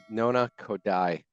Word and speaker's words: Nona Khodai: workshop and today the Mew is talking with nona kodai and did I pronounce that correctly you did all right and